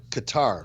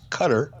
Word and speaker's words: Qatar: way and social media I've been I've been pronouncing the country of Qatar as Qatar like guitar kind of like yeah that's how